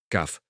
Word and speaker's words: cough: Se escribe cog y aunque parezca complicado, se pronuncia kaf.